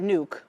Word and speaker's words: Nuuk: So, as I understand it, Nuuk, I think that's how you pronounce it, is a 4 and 1/2 hour flight from New York.